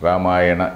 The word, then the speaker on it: Ramayana: Ramayana and Mahabharata Ramayana Rama iono Ramayana it becomes Ramayana we should not pronounce it as a Ramayana some anything like that Rama iono because the name is Rama the name of the character the name of the hero or the name of